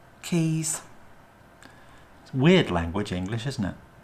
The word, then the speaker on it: Caius: what about Magdalene maudlin and caius keys weird language English isn't